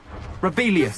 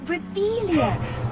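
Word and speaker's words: Revelio: place where are you rebellious saying it wrong uh Rebellion much better shut up wait Akio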